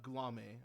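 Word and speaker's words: Guillaume: His direct superior, Robert, I always forget how to say this, Gulame, I believe is how you say it.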